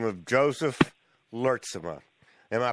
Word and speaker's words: Lurtsema: We are about to have a conversation with a young millennial entrepreneur from Anchorage, Alaska, by the name of Joseph Lurtsema. Am I pronouncing that correctly, Joseph?